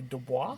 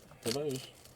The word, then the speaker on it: DeBose: DeBoise, would that be Dubois? DeBose, I think it is. Is that how you say it? How you pronounce Dubois? No? Am I wrong about apparently it's just DeBose.